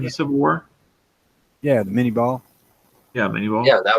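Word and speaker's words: Minié: Yeah, that was It's the one French word that I won't try to pronounce properly, because when I started black powder, it was a mini ball. But you're right, it's Minet. Minier ball.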